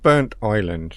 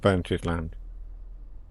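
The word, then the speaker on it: Burntisland: reason now so yeah it's burnt Island not not burnt his land I've been saying it wrong all time I'm looking for a sign a station sign so it's written as burnt is land but obviously I understand now burnt Island um I would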